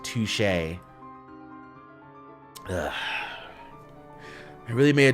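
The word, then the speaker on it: touché: Touchy. I think it's pronounced touche.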